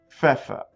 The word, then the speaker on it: Pfeffer: The P followed by the F sound. You got to pronounce both of them. It's like you're exploding the F sound out of your lips. Pfeffer.